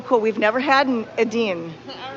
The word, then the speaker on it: Edin: How do you spell that? E-D-I-N. E-D-I-N. Edine.